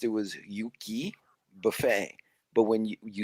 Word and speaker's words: Yuki: Pronounced, it was Yuki Buffet.